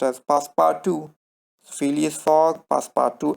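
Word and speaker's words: Passepartout: it is written that way but it is pronounced as past power to Phileas Fogg past power to Alta and the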